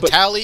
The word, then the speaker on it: Vitali: anyway, It's but- Vitali if you're pronouncing it the Italian way.